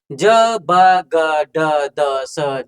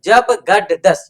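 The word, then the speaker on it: जबगडदश्: घ ढ ध स घट धस ज ब ग ड द स जब गड दस। यहाँ भी विद्यार्थी गलती करते हैं, जब गड़ दस पढ़ देते हैं, उच्चारण में अशुद्धियां करते हैं।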